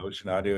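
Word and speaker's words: ocenaudio: Yeah, Ocean Audio. It's spelled funny. It's OCEN Audio, and it's free.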